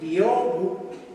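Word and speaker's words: 屏風: en japonés biobu e en japonés hay sílabas largas y cortas esa o es larga bi bu en cambio en español como no hacemos largas y cortas para alargar pusieron una m después de la O bi y Porque después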